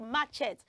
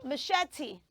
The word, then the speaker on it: machete: know in the garden so it is not matchet say machete machete machete Mach very good I love